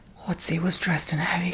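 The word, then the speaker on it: Ötzi: His name is Otzi, but the O has 2 dots above it. From what I recall, at least in Swedish, it's like Otzi.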